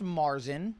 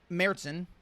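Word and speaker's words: Märzen: it's not actually pronounced Marsen okay it's pronounced uh meron really meron meron okay and uh that is German for March oh okay like the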